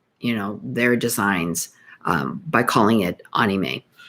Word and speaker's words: anime: If you're joining us, I'm talking about Japanese anime and Hawaiian design. I have been pronouncing it incorrectly all these years, calling it anime. It's actually anime, AHKNEEMAY.